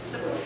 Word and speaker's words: Sukkot: and I'm not sure how to say this, Sukkot, S-U-K-O-T, anybody? Yeah. Sukkot.